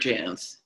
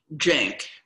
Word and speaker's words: Jance: my name my uh my first husband's name was jared janz but it was spelled j-a-n-c so it was mostly mispronounced jank uh after he died